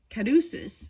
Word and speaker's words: caduceus: This card explores how love grows and entwines and becomes holistic, joining, like on the caduceus, that's how you say it, which symbolizes healing.